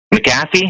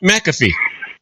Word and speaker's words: McAfee: CNBC they interviewed um maffy I think is how you say his name say it again maffy the uh he sells the antivirus for Microsoft McAfee yeah McAfee there we go yeah and he his